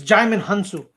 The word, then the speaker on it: Djimon Hounsou: always funny to hear people try to pronounce that name because I've heard some bad ones, super bad ones. It's Djimon Hounsou.